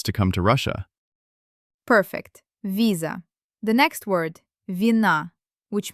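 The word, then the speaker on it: виза: The first word, visa. The stress is on the first syllable, on the letter E. Let's read. V before E becomes soft.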